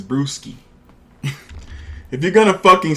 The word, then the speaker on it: Brewski: Chuck, it's not, it's Brewski.